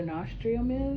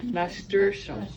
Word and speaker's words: nasturtium: So do you know what a nostrium is? You seen them before? Am I pronouncing it right? It sounds kind of French. I thought It sounds very French. Nasturtium. Nasturtium. Okay.